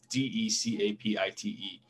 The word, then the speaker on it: DeCapite: I could be saying his name wrong. It's DeCapite, who lived in Tremont in the 50s.